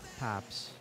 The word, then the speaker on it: Paps: nice that fast enough to go in it's pronounced pops baking I guess nice no I've never